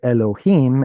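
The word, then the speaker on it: אֱלֹהִים: So the chirik underneath the vav is the sole indicator to us that this should be pronounced as Elohim, and traditionally an Ah,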